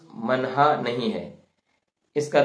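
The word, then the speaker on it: منحہ: تو ہم اس کو اردو میں پڑھیں گے منہا، میم نون بڑی ہے اور چھوٹی ہے، چونکہ عربی میں منحتن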